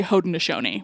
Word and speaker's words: Haudenosaunee: No, I mean you should instead of Iroquois, you should say Haudenosaunee, which I know is longer and has more syllables. Okay. Haudenosaunee.